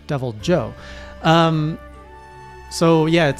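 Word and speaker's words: Deviljho: Not Devil Ho, by the way. Not pronounced like the Spanish, but Devil Joe.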